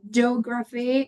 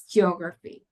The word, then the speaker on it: geography: This is one that I've also heard very frequently that is geography because sometimes people say it like geography. It's not geography it's geography. So make sure that you pronounce both also cafeteria.